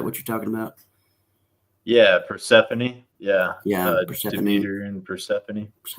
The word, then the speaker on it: Persephone: Yeah, Persephone. Yeah, Persephone. Demeter and Persephone. Boy, I just butchered that, didn't I?